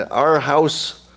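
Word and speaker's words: Aarhus: There's a museum in our house, that's how you pronounce it.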